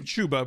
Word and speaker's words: Chuba: Chubba Hubbard, however you pronounce his name. It's Chuba, but we call him Chumbawamba because he gets knocked down, then he gets up again.